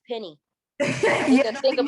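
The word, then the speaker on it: Pen1: oh social p-e-n-1 p-r-o is not it's penny you think of like myspace days and it's a lot to think of but just know it's penny it's pronounced penny pennypro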